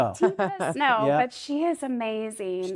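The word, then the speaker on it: Teepa Snow: It's t e p a s n o w ta snow ta snow but she is amazing.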